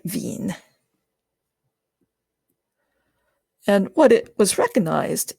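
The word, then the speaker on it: Wien: V displacement law and I have heard people people pronounce that wine and wean I I pronounce it Ven and what it was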